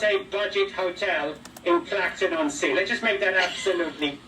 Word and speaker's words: Clacton-on-Sea: It's called Clacton-on-Sea. It's not actually just Clacton. That's how we pronounce it, and that's how some people do. What's what they call it? If they're shortening it up, but it's Clacton-on-Sea if they're being fun.